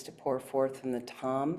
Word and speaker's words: Tam: And imagine at the center of her tiny heart is her seed syllable, Tam, T-A-M, the nature of green radiant light, and